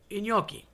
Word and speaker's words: gnocchi: Okay, I've had people say gnocchis. It makes me want to throw up. They're not gnocchis. They're not gnocchis. It's gnocchi.